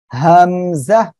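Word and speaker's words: ء: আমি ওই অক্ষরটা এখন লিখছি, সবাই একটু দেখেন, এই যে হামজা, এভাবে উচ্চারণ হবে আর এই অক্ষরে কোনো টান হবে না।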